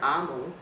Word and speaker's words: Omu: another book, and this time we're reading Thank You, Amu by Mora. And there's a little note to the reader that the word Amu, O-M-U, is pronounced A-mu and is the Igbo term for queen.